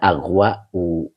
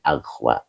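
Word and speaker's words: أغوى: Ini asalnya aghwa u, aghwa a itu. Karena alif ini menelan harokat kalau di akhir, jadi cukup bacanya aghwa.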